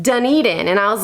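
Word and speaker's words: Dunedin: at me like where and I was like dunen you know like just south of Tarpon Springs and they laughed at me and they were like oh it's pronounced deden and I was like are you serious because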